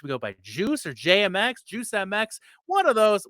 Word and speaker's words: JMX: so real quick question jmx your name rhymes with bmx is bmx reaper your